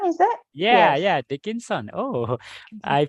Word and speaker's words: Dickinson: day yes a by American poet Emily Emily Dickson is it yeah yeah Dickinson oh I pronounced dick dickon yeah got it got it